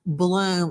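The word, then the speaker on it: Blum: out to Howard Bloom M pronounced balloom like the flower author of a hit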